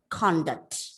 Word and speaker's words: conduct: So even though the spellings are exactly the same, one is noun and the other one is verb, but in this case, the pronunciation is entirely different along with the stress, okay?